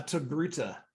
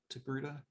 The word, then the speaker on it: Togruta: A Togruta. Is that how you pronounce it, Rich? Togruta?